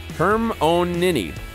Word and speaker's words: Hermione: Hermione.